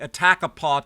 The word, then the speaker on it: Attakapas: who named it the Attakapaw Territory. Now, it's spelled like it's spelled in French.